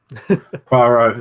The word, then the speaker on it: Poirot: They're moving forward with the adaptation of Death on the Nile, another Hercule Poirot, wherever you pronounce it. Poirot, that's the one.